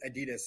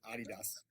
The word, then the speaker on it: Adidas: Just like I used to pronounce it Adidas, and now I have to pronounce it Adidas.